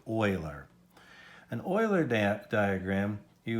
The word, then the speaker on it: Euler: hmm now an Euler diagram that's how you pronounce that funny name Whaler an Euler dant diagram you would say well